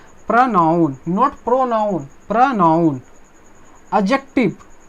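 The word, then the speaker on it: adjective: एडजेक्टिव, एडजेक्टिव इसमें D silent होता है, क्या साइलेंट होता है हमारे प्यारे दोस्तों, डी साइलेंट होता है।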